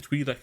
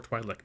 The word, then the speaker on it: Twi'lek: Yeah, Ryloth, the home of the Twi'lek or Twi'lek people, both of which are correct pronunciations.